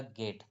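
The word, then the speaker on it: get: कि गेट जी ईटी अब देखो बच्चों जी के बाद ई आ रहा है तो जी के बाद ई आ रहा तो जी को तो ज पढ़ना चाहिए लेकिन इसको हम ज ज का उच्चारण ना करके हम ग का करते हैं तो यह हो जाएगा गेट अब आपके मन में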